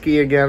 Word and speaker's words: Keegan: Fame Ferris Fame Bob Keegan Jim Hagan are Heejun Leo Keeley again Bob pronounced key again I think it's head l'apicio's again